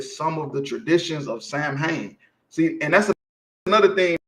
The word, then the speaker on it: Samhain: Halloween origins date back to the ancient Celtic festival of Samhain, pronounced as Samhain.